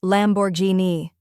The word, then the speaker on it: Lamborghini: the correct pronunciation is Lamborghini the lambor part is straightforward just like it sounds lambor the Guin part is pronounced as G with a hard G like in the word go remember it's Italian so